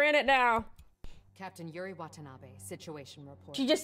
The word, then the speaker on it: Watanabe: I've never had to pronounce that. And I hope I did her justice. Watanabe, that's how you would do it.